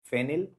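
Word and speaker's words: phenyl: Benzene को prefix में फेनिल कहते हैं। याद रखना, फिनॉल ना कह देना, फेनिल।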